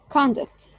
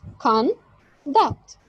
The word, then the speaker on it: conduct: For instance, the word conduct, which consists of two syllables, conduct, may be pronounced with the stress on the first syllable as conduct, conduct, conduct as a noun, or with a stress